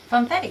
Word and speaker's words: Funfetti: Funfetti? Funfetti, yeah.